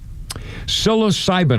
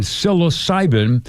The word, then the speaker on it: psilocybin: Psilocybin, I pronouncing it correctly. It's p s i l. Psilocybin psilocybin.